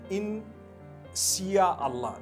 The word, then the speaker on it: Insya Allah: If you look at, the Malay language, they write Insya Allah, the S-Y-A. They pronounce the S-Y the way we pronounce S-H.